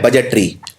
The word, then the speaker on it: budget: अब ये गलती कहां होती है, बजट में डी प्रोनाउंस नहीं होता, डी का उच्चारण नहीं किया जाता, तो बजट की लोग स्पेलिंग ये लिख देते हैं।